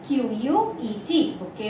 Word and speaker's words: bouquet: B-O-U-Q-U-E-T, bouquet of flowers.